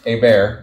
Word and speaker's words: Hebert: some Gators tomorrow and I'm here with AAR that's correct got to be careful that I pronounce it proper right we're a little touchy